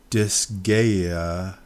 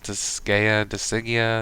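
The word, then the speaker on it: Disgaea: uh I'm gonna mispronounce it I'm going to mispronounce it um disaya five complete disa desia disa I I can't see it is it desia it's d i s g a e a dis I think it's disaya disaya okay there go go hardore thank you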